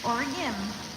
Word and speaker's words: Oregon: there actually know better don't call it oron it's never been oron it's or it doesn't rhyme with origami it rhymes with origini it's orim you'll never forget oregonians will